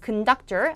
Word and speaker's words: conductor: conductor 아니고 conductor. 앞에가 슈아 발음으로 뭐가 되죠? 약화돼서 큰이 되죠? conductor.